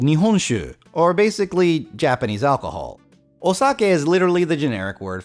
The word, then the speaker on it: Osaka: did this come from anyways first off it's pronounced sucking technically Osaka but not Saki I'm not sure where this